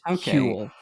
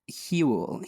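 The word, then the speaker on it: hwyl: But I think it's pronounced like Huel.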